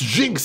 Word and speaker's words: Gynx: Pronounced Jinx. I was actually wondering as I was reading if it was Jinx.